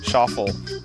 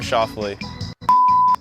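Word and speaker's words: Schauffele: back with you presently here are some ways my name's been pronounced scof chuul sule scaer X Ander Shuffle Lee shovel Xavier that was actually one of them the guy never got the war out my name is Xander Schley I said wrong listen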